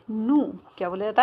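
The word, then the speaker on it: nous: नू। क्या बोला जाता है? क्योंकि आपको पता है कि फ्रेंच में ये जो पीछे के जो होते हैं लेटर साइलेंट हो जाता है। ठीक है, तो नू, इसको नू बोला जाता है।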